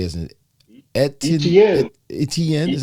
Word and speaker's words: Etienne: Etienne. Etienne is how you say it? Etienne. ESPN sound like ETN. ESPN. So when I write his name down in my notes, I just write ETN.